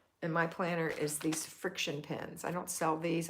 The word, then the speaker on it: FriXion: used to call them frixion because that's what it looks like it says but it's pronounced friction all right these are